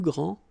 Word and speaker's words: grands: All right, so you don't pronounce this final S. Okay, so one more time. Il est le plus grand, elle est la plus grande, ils sont les plus grands, elles sont les plus grandes.